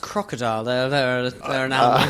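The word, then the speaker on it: krokodil: what's that oh yeah the Russian drug it's pronounced crocodile this actually does it it's something I don't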